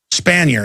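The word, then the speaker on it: Spanier: Is that how you pronounce that, guys? Spanner, yeah.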